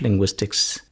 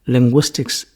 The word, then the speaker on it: linguistics: What is to be noted is that the CS at the end is very important. We should always pronounce it as linguistics if you refer it as the name of a subject, not linguistic. That is a different grammatical category.